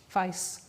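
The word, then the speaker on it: Faiss: Facebook AI similarity search, which I understand is pronounced FICE, although you would think it's face, but it's not.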